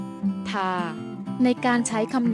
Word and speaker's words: 它: อ่าน ออก เสียง ว่า ทา โดย จะ อ่าน ออก เสียง เหมือน กับ คำ ที่ 4 และ คำ ที่ 5 ถ้า ซึ่ง การ ใช้